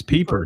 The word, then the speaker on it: Pieper: It's Pieper, not Piper.